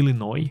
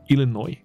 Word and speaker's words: Illinois: 就有了，所以 Illinois 后面的 S 是不发音的。